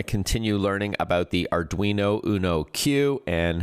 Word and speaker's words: Uno Q: These are the folks behind the brand new Arduino Uno Q. It's spelled just as it sounds, U-N-O, and then the letter Q.